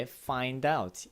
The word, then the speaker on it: find out: 그러니까 여기서 중요한 건 당연히 뒤에 find out 이거 연음 처리해야 되는 거 액센트도 넣어야 되고요. 그래서 find out이 아니고 find out 이게 중요하죠. 그리고 t는 뭐 항상 이렇게 변화가 되잖아요. t 발음이 거의 안 나고 t 발음이 거의 안 나고 이거 여기서는 리을 발음 one way to find out 그렇죠?